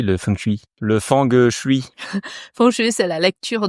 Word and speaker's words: 水: Ouais, shui. Shui. J'adore ce caractère, il est super beau. Ouais, déjà la prononciation c'est Troisième tour. Ouais. Shui. S-H-U-I. Shui. Donc ça s'écrit shui, Quoi comme dans feng shui.